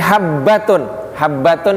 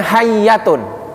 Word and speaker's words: habbatun: Jadi habbatun itu ha dengan baknya titiknya 2. Karena waktu itu tidak ada titik. Jadi ada orang yang tidak bisa baca bahasa Arab, dia bacanya bukan habbatun. Habbatun itu artinya jinten hitam. Habbatus sauda itu jintan hitam, biji hitam. Itu habbatun. Kalau pakai ba. Nah, ini yang baca bukan pakai ba, dibacanya pakai ya. Jadinya hayyatun. Habbatun artinya biji, habbatus sauda